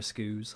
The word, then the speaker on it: SKU: The newer SKUs. Yeah. They don't have the GameCube ports. I've never learned how to pronounce that word, and I never will. SKUs. The SKUs. SKUs? SKUs? That's what yeah. It's Skew.